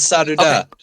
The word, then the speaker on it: Sadhu Dah: ask you though is the pronunciation of your name sadu da yeah it's sad da okay okay I just